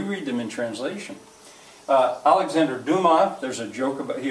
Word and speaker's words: Dumas: If you mispronounce his name, you come up with dumbass. And one of the convicts says, "Hey, look, here's a book written by a guy named Dumbass." Well, it's Dumas, silent S.